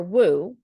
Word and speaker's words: Wu: the way you think it's VI iy for and Wu for woo woo marketing and